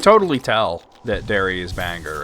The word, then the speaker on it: Bangor: You could tell you're not from Bangor by how you pronounce it. Do people, like, say banger? Ah, yeah, banger. Dude, where the hell is a... This is the one that always, like, stymies me. It's Bangor! Okay, here it is.